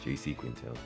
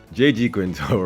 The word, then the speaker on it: J.G. Quintel: Do you know I always pronounce his name as J.C. Quintel? J.G. Quintel ran from 2010 to